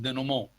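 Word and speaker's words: dénouement: leading toward resolution or it is also called denomo which is a french word i'm going to write it down denomo it is written the new mint but it is pronounced denomo is anyone else have a okay thank you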